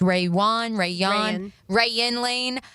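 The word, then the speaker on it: Rayuan Lane: I don't believe Caleb Ransaw or Raywan Lane, how we determined it's pronounced, Rayan Lane.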